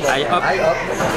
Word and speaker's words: IHOP: Il y a un I, donc on dirait IHOP.